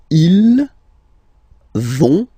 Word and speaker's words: vont: you don't pronounce it, so ils vont, final T, not pronounced, ils vont, and then feminine form, elles vont.